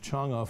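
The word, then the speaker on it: Chang'e: don't believe it that even the cha it's pronounced chunga for Chinese Lander could never have landed on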